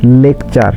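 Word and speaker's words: lecture: শব্দের শেষে টি এর পরে ইউ থাকলে এর উচ্চারণ চ এর মত হয়। যেমন লেকচার টি ইউ আর ইচ্চারণ হবে চার ফিউচার এফ ইউ টি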